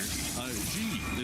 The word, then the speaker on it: Xi: Xi is pronounced like she.